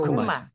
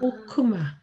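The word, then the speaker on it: חכמה: 오, 그러면 이거 뭐예요? 오단모. 오단모. 그래서 오단모. 호크마죠. 아, 호크마. 호크마 아시죠, 뭔지?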